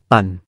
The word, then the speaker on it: พัน: ออก เสียง เป็น กา คำ ว่า พัน ต้อง เป็น พอ พาน เขียน ว่า พัน แต่ ออก เสียง ปัน ดัง นั้น 12 ปณา